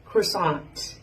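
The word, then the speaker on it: croissant: แต่ ภาษา อังกฤษ เขา จะ ออก เสียง ว่า cron cron นะ คะ แล้ว ก็ อัน นี้ cake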